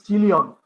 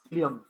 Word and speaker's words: coelom: The first one would be silent, and E will be you will pronounce cilium.